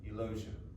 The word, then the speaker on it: Eulogia: Eulogia, rhymes with closure.